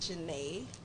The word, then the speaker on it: Janae: But my name is pronounced Janae. I'm not That's gonna lie, pronounced he Janae actually with the is. I IS? said it just like that. I did. With the IS on it? Yes. It's French.